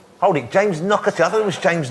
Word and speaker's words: Naughtie: It's pronounced Naughtie, but it's spelt naughty. It's Naughty, isn't it? It's not Knockety. It's like Knockety Knock.